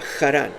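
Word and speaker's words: Harán: Y vinieron hasta Jarán, ¿recuerdan? Esta es la localidad cercana a Urden los Caldeos que se pronuncia con J.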